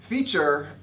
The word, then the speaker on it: feature: are a little separate feature as a verb is also pronounced the same way as teacher the noun a feature